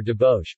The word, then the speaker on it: Dobos: Dobos torte or doboche, pronounced dobo, Hungarian, Dobos torta, is a Hungarian sponge cake layered with chocolate buttercream and topped with caramel.